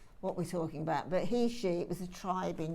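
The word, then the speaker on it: Heishi: So a sort of, and actually you pronounce these beads Heshi, not Heshi, but it doesn't really matter. We all know what we're talking about. But Heshi, it was a tribe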